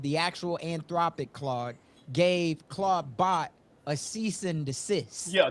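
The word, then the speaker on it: Clawdbot: to my ex account and everybody's talking about Claudebot. And the way that you spell it for anybody who's watching or listening, it's C L A W D B O T. Um, so Claudebot, but what just happened that I saw was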